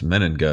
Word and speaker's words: Meninga: my last name right which is pretty simple you just read it it's meninga it's obvious i know it feels